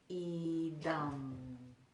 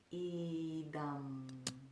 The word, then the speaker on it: Idaṁ: And the Anusvaras are pronounced with the tongue floating all the way to the roof of the mouth and just kind of hugging the roof of the mouth. So that would be Idaṁ, Idaṁ. So the whole mouth closes rather than just the lips closing.